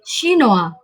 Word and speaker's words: chinois: Contoh, Jack Ma est chinois, Anne est chinoise. Terdengar jelas pengucapan dari chinois dan chinoise cukup berbeda.